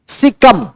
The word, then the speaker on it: caecum: सिकम, सिकम, सिकम, colon, colon, सिकम, colon और रेक्टम। सिकम, colon और रेक्टम। सिकम, colon, colon COLON, और सिकम, सिकम का स्पेलिंग होता है CAECUM।